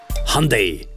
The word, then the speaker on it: Hyundai: ein Strahlemann und sonst hundai also Hyundai wie es in unseren Gefielden ausgesprochen wird ein jononik also ich